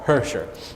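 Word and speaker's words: khuushuur: food it's called hersher it starts with a K but you don't pronounce the k called hersher and it's pretty much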